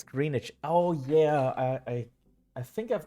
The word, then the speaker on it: Greenwich: It's Greenwich.